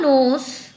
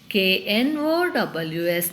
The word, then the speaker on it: knows: Bukka knows that one day he will become the leader. B-U-K-K-A, Bukka, K-N-O-W-S, knows. Here also K is silent, children. While pronouncing, K is silent.